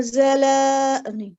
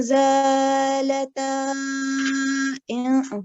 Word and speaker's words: زالتا: ولئن زلا no, I don't know. You need to pronounce that. ولئن زالتا sorry. Yes, that's better because remember this is alif, so we need to prolong for 2 counts.